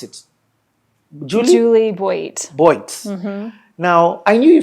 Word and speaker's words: Juli Boit: How do you pronounce it? Juli Boit.